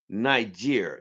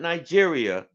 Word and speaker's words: Niger: any believers it's called It's pronounced Niger not Nigeria Niger they done kick the